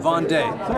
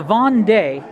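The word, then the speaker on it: Vendée: of, The War of the How do you pronounce that? Vendee. The Vendee.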